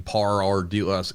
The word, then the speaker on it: Ardila: Today we have Paul Ardila, but the correct way to say it, which for some reason is hard for my Kentucky tongue, is Paul Ardila. Ardila. There's like that rolling R. I think you got that it. rolling R from from a Spanish.